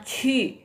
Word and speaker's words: ju: Nah, JI bacanya bukan J tapi C. J jadi C. Ini bukan ku juga ya, bacanya Cu ya.